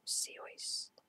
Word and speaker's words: Seuss: Dr. Seuss pronounced Zeus such that it rhymed with rejoice. So, Seois, I'm guessing.